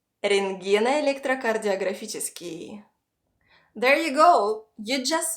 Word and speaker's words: рентгеноэлектрокардиографический: Рентгено-электрокардиографический. Рентгено-электрокардиографический. Рентгено-электрокардиографический.